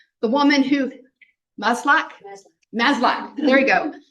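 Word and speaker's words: Maslach: Christine malash Mal malash whose name I cannot pronounce the woman who maslac masl maslac there you go okay maslac um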